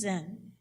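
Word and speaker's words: Zenn: But the interesting thing is that my family name was Zen. It's spelled Z-E-N-N, a good German name, but it sounds like Zen Buddhism.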